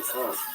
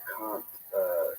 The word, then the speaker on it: Kant: So Kant. If you ever want to know, It sounds like cunt, but it's not cunt. but it's not. Yeah. It's spelled like can't, but he sure does.